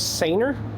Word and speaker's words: Sanooer: Uh, I was corrected on the pronunciation. They said it was Ser.